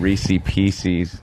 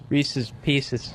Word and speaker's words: Reese's Pieces: Did I say it like that? Yeah, you said Reese Pieces. It was Reese's Pieces.